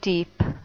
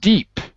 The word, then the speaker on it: dip: Dip. Not deep, because deep is like profundo. This is dip. Okay. Right? Dip. But I'm still hearing deep. So we have to get the short I sound for dip, like sit.